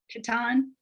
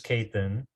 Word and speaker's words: Kathan: Is it Katan? This is Kathan.